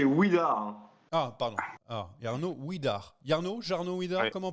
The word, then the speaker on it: Jarno Widar: Ah, Jarno Widar. Jarno Widar, Oui. comment on prononce ?